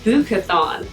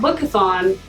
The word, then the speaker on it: Bookathon: participate in a readathon called the bukathon not bookathon bookathon but spelled the same so one of the